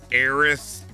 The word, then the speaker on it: heiress: There's plenty of words with a silent H. I mean, you got heiress, heirs, hourly, honestly, heirlooms, homage, hors d'oeuvres.